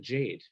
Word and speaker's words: Jagde: So anyway, I guess they kept the sound of the umlaut and then made the G like a Y. I don't get it, but we pronounce it Jade.